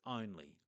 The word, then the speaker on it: only: So we have that letter O at the start making the sound O.